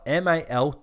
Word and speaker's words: Maltesers: don't have the packet okay so mold teases is spelled m-a-l-t-e-s-e-r-s which means it's actually pronounced maltesers hold on